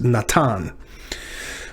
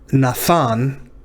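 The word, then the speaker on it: נתן: That's why I said this is pronounced Natan. But if you pronounce it that older way, Nathan, that gives you an idea of what this is.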